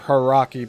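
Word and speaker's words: Hauraki: Puara South Road stretches for a mile across a gravel surface on the Harari Plains or Haraki Plains. That's spelled H A U R A KI.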